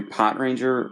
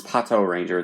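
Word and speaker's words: Patranger: A lot of people shortened it to Pot Ranger or Pot Ranger when it came out, but it's Pato Ranger. The the dude who did the voices for the Memorial Mobirates pronounces it that way, so that's what I'm going with.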